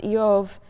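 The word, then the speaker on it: איוב: The name Job, which in Hebrew is pronounced Yov, um is sort of balent in meaning.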